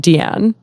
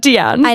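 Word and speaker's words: Diane: so much to me I also had no idea that she pronounced it deian I know and whenever she said Dian was like um you're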